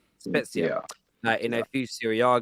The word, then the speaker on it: Spezia: Here, this says, I watched him play for, is it pronounced? Spezia. Spezia.